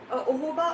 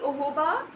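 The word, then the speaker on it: jojoba: you can use it for a longer time oh hoba oil is j-o-j-o-b-a that is oil it's pronounced as obama oil one minute thursday uh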